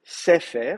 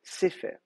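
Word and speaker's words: ספר: Donc je ne vais pas mettre sefer, je vais mettre sefer. Cela dit, je sais qu'on fait souvent des fautes parce qu'on prononce quand même sefer. On dit sefer, meler, etc. Mais si vous regardez bien, vous verrez en fait, c'est pas un ségol, c'est un serré.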